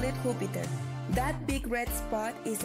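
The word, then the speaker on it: Júpiter: our solar system in Spanish we call it huper that big red spot is a giant storm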